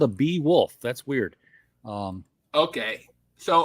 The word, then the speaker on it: Beowulf: worth reading uh so so bee wolf is apparently how it's pronounced um and in Old